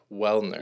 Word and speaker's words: Welhener: Welhener.